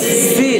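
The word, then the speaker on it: س: কয় নুক্তা তিন নুক্তা তাহলে এটার নাম হচ্ছে সিন সিন সিন উচ্চারণ হবে সিন সিন সিন সিন সিন সিন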